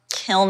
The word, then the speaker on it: kiln: There's all these weird little terms like colloquially um kiln is pronounced kil. We say kiln here.